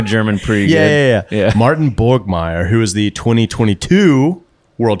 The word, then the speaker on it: Borgmeier: Borgmeier. Borgmeier. Yeah. Borgmeier. If you say it in like kind of a cool, intimidating German way.